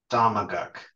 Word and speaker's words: Ktaqamkuk: think Do you want to pronounce Amestiquick. it? Sure. It's Thank Amestiquick. you. Amestiquick Damaguk.